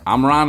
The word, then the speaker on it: Omron: It is Omron. Is that how you say your last name? Yeah, Omron, you said it right.